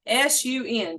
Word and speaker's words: Sun: Sun style Tai Chi, S-U-N, just like the sun, but it's pronounced Sun.